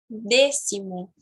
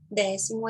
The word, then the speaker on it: décimo: A pronúncia correta é décimo, décimo, décimo, e não décimo. Décimo é em português. Em espanhol é décimo, com a letra E bem fechada, tá bom?